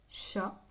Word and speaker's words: chat: C H donc ici le chat on nentend pas le t à la chasse fino